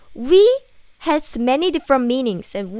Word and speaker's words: 위: 위 has many different meanings, and 위 can be above, but here is used for stomach. Only the pronunciation is same.